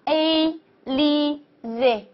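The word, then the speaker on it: Élysée: 的时候，它的发音也是需要浊化的，它应该读成 z 的音，所以连起来呢就变成了 A li z， A li z，非常好。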